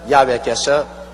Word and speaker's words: 야훼: 왜냐하면 원래 일을 행하시는 여호와, 그 일을 지어 성취하는 야훼 하나님이신데, 야훼라 해도 좋고 여호와라 해도 좋습니다. 그러나 야훼란 말이 더 정확한 발음입니다.